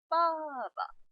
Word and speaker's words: 爸爸: 爸爸 빠바, 하성과 경성이 만나면 빠바, 빠바. 이렇게 발음합니다.